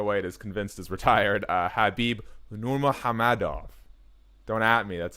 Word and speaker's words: Khabib Nurmagomedov: The man who everyone but Dana White is convinced is retired, Khabib Nurmagomedov. Don't at me. That's how you pronounce it.